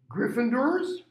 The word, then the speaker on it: Gryffindor: Or, notice I'm not pronouncing it door. It doesn't mean this. It's of, that's the did. Or, it's French. Gold.